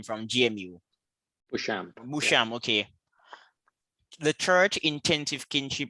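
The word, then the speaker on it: Beauchamp: you pray is this french how do you pronounce jonathan's last name from gmu musham okay the church intensive kinship and global psychological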